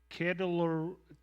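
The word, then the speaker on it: Chedorlaomer: It says, at the time when Amraphel was king of Shinar, Arioch king of Elasar, and Kedorlaomer is the way you pronounce that, king of Elam, and Tidal, king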